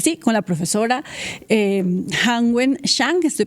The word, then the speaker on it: Hanwen Zhang: Es bastante eh curioso este caso del que vamos a hablar entonces ya mismo, ahora sí, con la profesora eh Hangwen Shang. Estoy pronunciando bien su nombre, profesora.